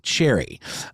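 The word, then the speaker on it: Cherryh: read scenee by CJ Cherry um there a seemingly silent h at the end of cherry but that's how I'm going to say it um if not I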